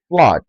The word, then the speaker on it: flood: Some of those words are Flood, flood, and not flood.